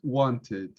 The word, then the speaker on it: wanted: you pronounce ed is when the verb has a t sound t r d sound t r d for example want then pronounce wanted that case yes correct when you pronounce decide cited decided okay in that case when you have t in the sound you pronounce idi this is the only exception yeah i wanted to